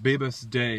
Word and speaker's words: Bibhas De: Here's a good excerpt I got from Bibhas Day. His name is spelled Bibhas space DE.